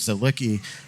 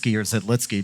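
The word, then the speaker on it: Zidlický: but I remember when Marek Zidlicki had his, or Zidlitsky, because he changed his pronunciation of his name a bunch of times.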